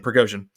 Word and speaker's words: Prigozhin: I know how to say his last name, Prigozhin, who is Putin's former best friend per sources,